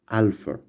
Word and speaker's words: alpha: Now, the first letter is this one, which it is known as alpha. Alpha, it is pronounced and it sounds like a in father.